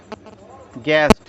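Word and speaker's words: guest: ई ए जी यूई एसटी इसको हम पढ़ेंगे गेस्ट जी यई एस को पढ़ेंगे गेस्ट यू साइलेंट है इसमें जी यू ए आरडी इसको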